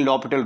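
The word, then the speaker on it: L'Hôpital: rule apply लपट rule spelling इसके हॉस्पिटल के ही है लेकिन लॉ पिटल रूल पढ़ते हैं इसको तो लॉ पिटल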